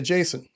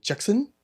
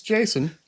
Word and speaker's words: Jason: And I would say Jason. And they'd repeat it back to me. And they didn't really have a long a sound in their language. So they'd say Jackson. It's like, "No, it's it's Jason."